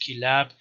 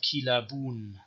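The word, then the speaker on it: كلاب: or in modern arabic it's just kilab it is not kila boon that's the point and it's also not kal boon and not kalaboon and same thing in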